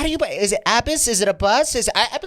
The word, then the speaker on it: Abbas: Abbas. Abbas. Okay. That it would be every day because I'm the top of the attendance. It'd be like, how do you? Is it Abbas?